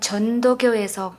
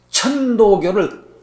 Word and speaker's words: 천도교: 천도교를 자꾸 전도교 그러신다. 천도교. 천자가 발음이 잘 안 돼요.